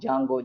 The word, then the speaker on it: Django: is there the go but DNA silent most of the people are going to pronounce Django Jango Jango that's all not the